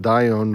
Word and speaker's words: Dione: FYI, pronounced Dione phonetically.